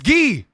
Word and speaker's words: Gui: It's Gee.